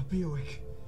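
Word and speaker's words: Biawac: A Beowick. Had to be. A Beowick. Oh, that's how it's pronounced.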